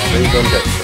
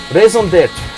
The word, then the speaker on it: Raison d'être: I was practicing how to pronounce this song title right at the Village Stream's turn. Raison d'être.